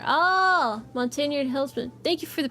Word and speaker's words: Montagnard: The indigenous personnel were made up of several different ethnic groups, with the key ones being Montagnard, pronounced Montagnard. Oh, Montagnard Hillsmen.